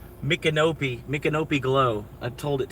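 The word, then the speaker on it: Micanopy: It's called Mkopi. Mkopi Glow. I told it to make a song about Mkopi, Florida. It's pronouncing it the wrong way. It's calling it Mcanopy. It's called It's saying Mick Canopy, but other than that,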